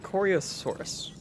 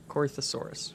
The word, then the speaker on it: Corythosaurus: Alright, Coriosaurus. Corythosaurus.